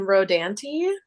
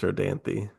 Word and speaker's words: Rodanthe: Yes, possibly Nights in Rodanti. We do not know exactly how that is pronounced. I think it's Rodanti.